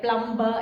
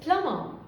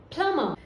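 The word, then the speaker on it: plumber: then this is പ്ലംബർ നമ്മൾ usual ആയിട്ട് പറയുന്നതാണ് പ്ലംബർ എന്ന് ബട്ട് it's wrong it's പ്ലമർ പ്ലമർ then here it is whole whole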